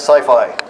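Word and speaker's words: SCCFI: coordinative faith in um there pronounced SC CFI pronounced sci-fi cuz you got to pronounce it somehow um and and this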